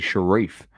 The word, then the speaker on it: Sheriff: So it's not Sheriff. It's actually Sharif.